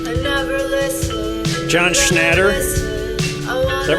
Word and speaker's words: John Schnatter: John Schnatter.